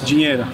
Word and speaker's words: dinheiro: Dinheiro.